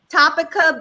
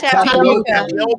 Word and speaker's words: tapioca: Chaps naked in Boys Town or the THC infused Topica beat. What is that? Tapioca. Tapioca. Oh, tapioca.